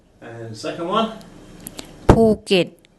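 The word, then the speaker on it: ภูเก็ต: ภ ู เ ก ็ ต ภ ู เ ก ็ ต ภ ู เ ก ็ ต And third one.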